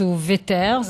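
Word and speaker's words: Wouters: où on dit Wiers le W on prononce vetters en tout cas V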